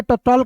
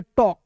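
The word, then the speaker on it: talk: चौक देखिए यहां पे टी ए एल के टॉल नहीं पढ़ेंगे इसे पढ़ेंगे टॉक टॉक देखिए टी का ट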